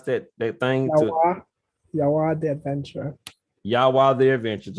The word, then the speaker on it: Yawa: How you pronounce that thing to Yawa The Adventure.